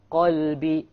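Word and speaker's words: قلب: From, if you change to a kaf, you become from a heart to a dog, right? Qalb means what? Heart. And kalb means dog. So if you mispronounce these letters, you're going to change the entire meaning.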